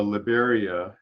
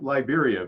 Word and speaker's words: Liberia: and we flew into liberia it's uh it looks like liberia but it's pronounced liberia the spanish pronunciation they have a nice